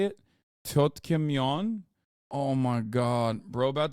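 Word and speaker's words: 떡볶이: Tteokbokki.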